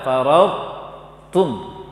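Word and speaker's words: فرطتم: Baca to yang tebal dulu tanpa qalqalah, tanpa pantulan, kemudian baca huruf ta-nya.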